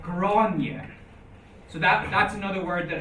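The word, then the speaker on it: Gráinne: In some situations is pronounced ye, like granye.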